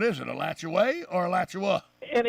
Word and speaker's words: Alachua: the town up near uh santa fe it's a latchaway but it's in alachua county oh absolutely that's